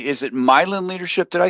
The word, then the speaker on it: Myelin: Is it Milin leadership?